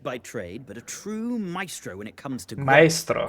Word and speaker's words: maestro: Because usually it's maester, master, maester maybe, but never heard maestro, which in Italian would be pronounced maestro. You don't join the A and the E together.